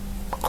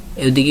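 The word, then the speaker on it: خ: ঐরকম তার 50% ঐরকম আপনি হা যেরকম একটু ডাবাইছেন তার একটু কম দাবাবেন খ এর দিকে খেদিকে একটু হালকা চাপ দিয়ে ধরে খা যেমন একটু ছড়াইয়েছে এটা ছড়াইবে না এটা হলে গোল হবে খর সাথে বলেন খ অনেকে আমরা বলি খ না এটা খেক যদি প্রতিদিন পড়েন পড়তে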